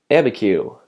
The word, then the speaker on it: Abiquiu: since it's pretty small abiquiu and in case you're warning that's how you pronounce that and actually before we